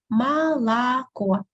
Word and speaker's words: молоко: Молоко, three letters O. Молоко, only the last letter O is stressed.